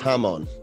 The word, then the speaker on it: Hamon: The Hammond is bugging me. Isn't it Hamon? It's Hamon. I think it is Hamon.